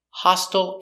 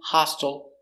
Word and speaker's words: hostile: relaxed sound H hustle hostile and hostile sound exactly the same we have the open short o a and we pronounce the T hostile hostile same pronunciation hello welcome